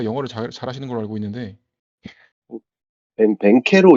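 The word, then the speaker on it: Banchero: 이게 두 분 다 영어를 잘하시는 걸로 알고 있는데 벤케로 이런 식으로 발음을 하더라고요. 그래가지고 네. 바로 벤케로 이렇게 말을 하니까 그냥 벤케로라고 부르면 될 것 같습니다.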